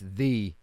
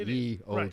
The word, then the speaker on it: ye: talking about you right but ye as in ye old shop right that's pronounced that that letter is pronounced the th yeah it's it's it's the it's not e it's the old shot it's away for now